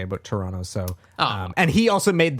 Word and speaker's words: Toronto: Like, I didn't pronounce the T's.